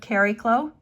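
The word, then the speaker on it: Chariklo: direct but also asteroid keriklow um thanks to my chat someone came up with the proper pronunciation of cary khloe it's this asteroid that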